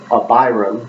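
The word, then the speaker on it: Abhiram: how do you say his name it's a Byram a bias a b h i r a m okay so a b is up that means father like AVI or Abraham so Byram so I would be a good the hand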